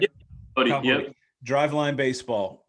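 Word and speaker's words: Boddy: Is it Bodie? Am I saying it right? Yep. Bodie, Kyle yep.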